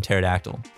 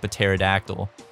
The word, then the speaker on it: pterodactyl: Or just start it with like a P and just like a P silent. Like in pterodactyl.